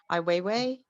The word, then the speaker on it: Ai Weiwei: uh his son uh i way i believe is the pronunciation of his name ai weiwei i think uh yes